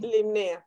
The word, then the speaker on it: Limnaea: Limnea. Ajá. Se pronuncia, se escribe limnaea, pero se pronuncia limnea.